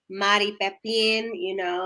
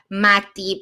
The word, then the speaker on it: Mari Pepin: She pronounces it like Mati because of her Spanish. So yes, Mari. You could even say Madi, like with a D, Madi, and that would sound better than Mari, to be quite honest.